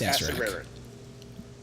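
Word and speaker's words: Acererak: A Serarak. It's pronounced Acerak.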